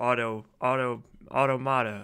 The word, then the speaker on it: automata: Or AUTOMATA.